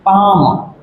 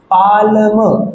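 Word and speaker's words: palm: For example एक word है पाम, जब हम लोग इसको पढ़ते हैं तो पढ़ने में एल का साउंड नहीं आता, स्पेलिंग में आ रहा है और पढ़ते टाइम इसका एल का साउंड नहीं आता। जैसे हम इसको पढ़ते हैं पाम, पाल्म, पाल्म नहीं पढ़ते, इसको हम लोग पाम पढ़ते हैं।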